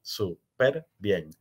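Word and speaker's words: superbién: acentuación y de ortografía bien es un monosílabo no lleva tilde pero cuando adopta el prefijo súper bien se convierte en una palabra de tres sílabas super bien como palabra de tres sílabas de con la fuerza tónica en la última en una palabra aguda termina en n por lo tanto lleva la tilde superbien excepción la excepción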